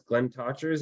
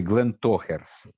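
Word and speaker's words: Glentauchers: It's actually Glen Tochers. Glen Totchers. Toe, like hairy toes, toe hairs.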